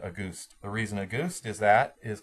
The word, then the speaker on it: Auguste: So think of the word August, picture in your mind August with an E at the end, and then pronounce it Auguste.